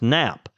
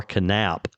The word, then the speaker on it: Knap: I I could be wrong, but if the name is knap, K is usually silent, pronounced nap.